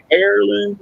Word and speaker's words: heirloom: Is it Heirloom Game Calls wants to know, is it Heirloom Game Calls or Heirloom Game Calls? So how is HEIR pronounced? Should be heirloom. Heirloom, as in AIR loom?